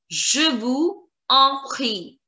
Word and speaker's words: je vous en prie: Again, there is a problem because here en starts with a vowel. It will connect with the last word's last letter, that is S, and the pronunciation. Please pay attention.